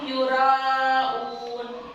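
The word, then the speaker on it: يُرَاءُونَ: Terus alladzina hum yura'un. Yura 6 harokat bacanya ya.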